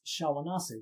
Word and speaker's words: Shawnee: There's no such word as Shawnee. So it's not how you say it. Like a lot of the tribes' names are wrong. It's Shawanasi, which is much prettier.